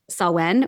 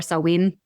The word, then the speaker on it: Samhain: So Halloween is really came from the Celtic tradition of Samhain or Samhain. It's pronounced differently depending on the regional accent in Ireland and where it came from, but it's spelled Samhain, looks like Samhain.